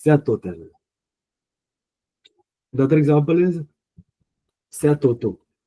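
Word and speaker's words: hôtel: So you see H is silent here. H. So next letter is O, which is the vowel. So technically we write H, but H here is of no use.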